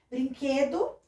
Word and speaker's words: Brinquedo: Brinquedo, ó, termina com O, pronunciei com U.